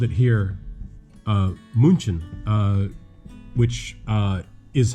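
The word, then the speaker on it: München: some of the vowels to make them from a short vowel to a long vowel so instead of uh munchen of munchen you know but with the two homeworks there so uh but we pronounce it munich and uh when i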